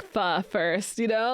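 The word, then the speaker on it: phở: Guys, we're going to make fo, a classic French Vietnamese dish, which actually he's not even pronouncing it right. Right. Right. It's fur. It should be called fur.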